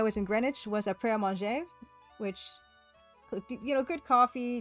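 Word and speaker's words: Pret A Manger: Okay, Gary Ankles, well, en français, it would be prêt à manger. But people call it prêt à manger in Britain. So they pronounce the T, although you're not really supposed to.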